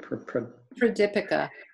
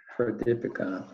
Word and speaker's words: Pradipika: How do you pronounce it? Pradipika. Pradipika.